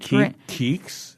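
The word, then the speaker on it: Keeks: just kind of started KS KS yeah it's a derivative of wait hold on KS K like if you were going to spell it phonetically k e e k s yes KS KS KS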